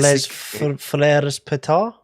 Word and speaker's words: Les Frères Pétard: I read from Les Frères Pétard. Is it? Did I pronounce that Les Frères correctly?